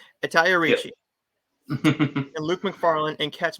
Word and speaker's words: Italia Ricci: It's Italia Ricci. I said it right. Italia Ricci.